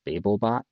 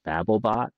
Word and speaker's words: Babelbot: you for a second I believe it's pronounced babelbot not babblebot like the Babel Fish from Hitchhiker's Guide to the Galaxy just in case anyone